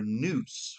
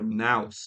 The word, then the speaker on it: nous: This is as it were a training ground for um what Greek philosophers called our noose, right? So or nouse depending on your um on your pre preferred pronunciation.